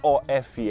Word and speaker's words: off: pronunciam da mesma maneira a primeira of f f você vai simplesmente colocar o som de F Então você vai falar off já o of é